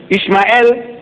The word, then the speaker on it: Ishmael: I said, in the book of Genesis, the first book of your Torah, no less than 12 places, Ishmael, that's how they say it.